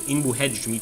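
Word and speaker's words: Inbu-Hedj: Pronounced in Egyptian as Inbu Hedge, meaning white walls.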